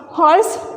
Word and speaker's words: horse: Horse, h is not silent, horse, h-o-r-s-e.